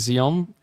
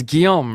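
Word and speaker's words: Guillaume: I actually heard from a French friend of mine or someone that speaks French that I was mispronouncing your name as Zion, but it's Guiam, right?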